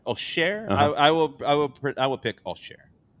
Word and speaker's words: Auxerre: How did you pronounce the home team? Auxerre. Auxerre?